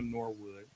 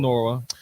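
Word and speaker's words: Nwora: for Bruce Brown Jordan Norwood you don't the is silent what called a brandy bro his name he ain't a Norwood Jordan Norah and three first round picks gentlemen what do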